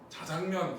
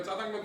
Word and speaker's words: 자장면: 원래 짜장면 짜장면 그래야 되는데 아 발음이 너무 세다. 발음 좀 순하게 합시다. 자장면 자장면 먹으러 가자. 그럼 개막 느낌이잖아. 자장면 맛있게 느낌이 안 사 그지? 그래서 지금은 자장면 짜장면 둘 다 표준하라 얘기하잖아요.